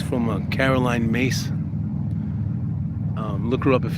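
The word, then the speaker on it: Myss: It's from Caroline Mace. Um, look her up if you can. Her last name is MSS, but it's pronounced Mace.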